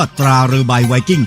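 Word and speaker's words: ตราเรือใบไวกิ้ง: ไป ดู ที่ กระสอบ ที่ เขา เขียน ว่า ตรา เร ใบ ไวกิ้ง อ่าน ว่า ตรา เรือ ใบ ไวกิ้ง เท่า นั้น แหละ ก็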